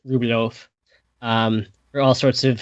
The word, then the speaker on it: Rublev: you look on um you know how it's spelled in English you're going to see and e at the end look like it you know Andre rublev um but ten Russian it's ruof um for all sorts